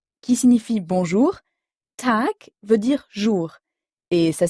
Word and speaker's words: Tag: en fin de mot si G est en fin de mot il se prononce alors comme un K par exemple dans gout T qui signifie bonjour tac veut dire jour et